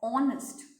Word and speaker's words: honest: Because when I pronounce it as honest.